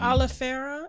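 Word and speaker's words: oleifera: efficiency of Moringa and is it Oliveira is that how you say it yeah okay cool because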